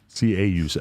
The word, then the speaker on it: caulk: C-A-U-L-K. C-A-U-L-K. Right, Yes, not the okay. thing swinging between We're your on the legs that you square. can see on Aaron Carter's OnlyFans. You didn't pronounce it right, though.